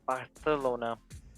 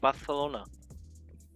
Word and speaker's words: Barcelona: Yeah, you're supposed to say it like Barcelona. I am pretty sure. I always see people try to correct people on how it's not Barcelona, it's Barcelona.